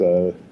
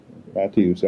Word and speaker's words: Mattiussi: It's Mattiussi, and you pronounce the T as a hard T, and then you get the I in there. Mattiussi.